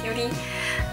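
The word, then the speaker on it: QT: cute tee that that's written with the q dot t dot unicorn but you know you pronounce it like a cutie um and what is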